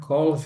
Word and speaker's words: calls: O A aqui tem som de O e o L som de L mesmo. Não pode ser som de U.